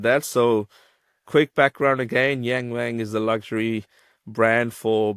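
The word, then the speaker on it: Yangwang: But staying on topic of performance with a bit of bit of China, we'll talk about the uh new record, the Yang Wang.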